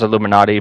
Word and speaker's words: Illuminaughtii: a name that's that basically is pronounced as Illuminati but it's spelled very differently uh we'll be in